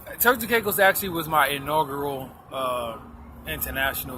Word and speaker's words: Turks and Caicos: So I did some research on you, and I see that you have been to Turks and Caicos.